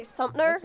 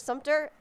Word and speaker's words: Sumter: I've heard people say Sumpner instead of Sumter, and it drives Sumpner? Me crazy. Sumpner? There's yeah. That's literally removing the T. Sumter.